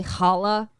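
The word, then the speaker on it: Challah: get this right Wolf's middle name is actually Hala like Hala back but it's spelled like the bread Liebowitz thank you Scarface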